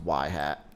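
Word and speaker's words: ŷ: XI for that instance Y is pronounced y hat for example if your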